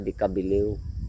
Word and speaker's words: de Cabileo: Decabillyo kasi nalilito talaga ako eh. Kasi sasabihin kong deabillo e ang basa nila dekabiliw ang pronunciation nila.